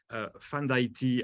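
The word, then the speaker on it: Fanm d'Ayiti: That's how we pronounce it, actually. She's from Haiti, and she told me she likes her name to be pronounced in a kind of French way somehow, so Haiti way.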